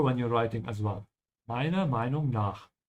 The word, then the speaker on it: Meiner Meinung nach: Meiner Meinung nach. The R, when you're pronouncing it, is very slight, depending on the region in Germany. But it exists, and make sure to remember that it exists, so whenever you write